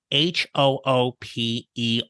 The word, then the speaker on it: Hooper: to the midcareer GPS podcast episode 110 Hooper welcome to the midcareer GPS podcast thank you I'm Hooper who is delighted to be here did you